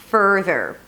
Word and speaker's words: further: Further has no vowel between the F and the R. Further. Furthermore, right?